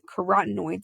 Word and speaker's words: carotenoids: of light and then carotenoids it sounds like the word carrots cuz are usually orange